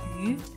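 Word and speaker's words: 鱼: Since the fish pronounced like yu, which is pronounced the same as surplus, it has the meaning of always have more than enough food and wealthy in one's life.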